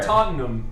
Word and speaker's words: Tottenham: need help I was trying to get there Tottenham toam to yeah you got to say it like